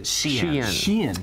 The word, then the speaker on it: Shein: Shein.